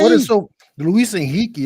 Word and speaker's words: Luis Enrique: What is so Luis Enrique is how you say it. I'm not understanding what's so funny about that. No. I'm. It's just. Because we always hear it as Enrique.